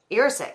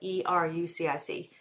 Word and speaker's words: erucic: It has fatty acids such as oleic, gadolinic, and erucic. I can't pronounce them. I'm gonna spell it. E-R-U-C-I-C. Actually, do you know how to say that? Erucic? Oh, no. You're sick. Erucic. So due to the fatty